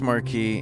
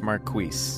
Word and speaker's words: marquis: so it's you're correct in French it's Mar in the UK it's Marquis okay marqu marqu is